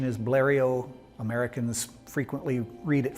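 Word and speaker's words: Blériot: on the planet there's multiple pronunciations the French pronunciation is Blair II Oh Americans frequently read it phonetically as Blair yacht bleary Oh malarial you'll hear it many ways plans arrived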